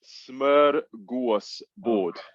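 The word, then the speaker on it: smörgåsbord: Go on, tell me how it's pronounced. Smorgasbord.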